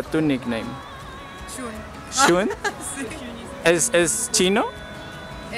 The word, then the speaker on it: Zhuun: Listo, no, yo quiero saber cómo se pronuncia tu nickname. Shun. ¿Shun? Sí. ¿Es chino? Sí, es japonés. Chino, es chino. ¿Y no sería como Jun?